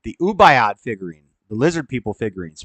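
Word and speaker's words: Ubaid: so we got this then we got the unabi the or ubayad my bad I said it wrong the ubayat figurine the lizard people figurines pre-summerian dated uh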